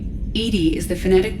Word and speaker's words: EDI: Edy is the phonetic pronunciation of EI.